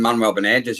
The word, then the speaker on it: Manuel Benages: my good friend Manwellness, Manuel Benages. How do you say it? You're right, you're nearly there then. Manuel Benages, yeah. Manuel Benages.